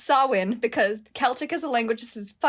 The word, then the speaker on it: Samhain: that it's pronounced champagne it is not it's pronounced sawin because celtic is a language that says [